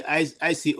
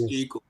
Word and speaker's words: Iko: Is it Mazi ICO? Okay, ICO. Okay, I thought it's Iko.